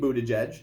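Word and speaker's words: Buttigieg: number three right firecracker yeah and then Pete Buddha judge yes yeah you notice I pronounced that right Kristen Gillibrand all right Michael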